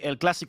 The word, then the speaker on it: El Clásico: That's, by the way, El Clásico only has one S, and there's an accent on the A. We're Spanish and not French.